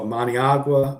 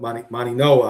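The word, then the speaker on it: Mauigoa: We saw Maniagua Maninoa I should say. I always say say pronounce it wrong. The G is actually an N in Samoan. Maninoa goes in the first round.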